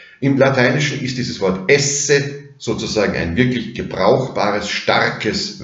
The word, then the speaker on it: es: In orthografisch identischer Form haben Sie das im Französischen erhalten. Tu es, nur spricht man das S am Schluss nicht, aber im Lateinischen naturgemäß schon. Also es, du bist.